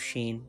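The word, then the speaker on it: شين: Sheen, please spread sound like sheen. To spread sound, it's very important.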